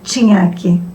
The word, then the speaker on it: Cignachi: Hoje nós temos o prazer de estar com a nossa convidada, a Estrelita Maris Toqueto Sinhaque. Se nós pronunciarmos corretamente, né, a Estrelita seria Tinhaque, certo?